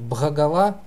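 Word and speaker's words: bhagavā: еще а ну и вот там где стоит х его лучше произносить звонко как украинская то есть багала но вообще читается но если даже скажу тут бах агава это по крайней мере сохранит б потому что у нас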